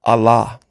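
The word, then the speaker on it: ἀλλά: or exception to g235 is pronounced Allah see if I can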